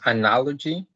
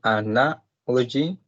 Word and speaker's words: analogy: Okay, number 9 is analogy. The stress is in the second one, analogy, and I count 4 syllables.